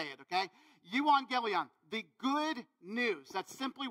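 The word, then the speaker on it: euangelion: be like you are what okay uh so you on Galleon and yes it took me weeks to figure out how to say it okay you want Galleon the good news that's simply what it means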